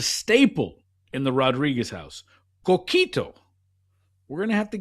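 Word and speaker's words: coquito: Kito. You're saying it perfectly. Kito.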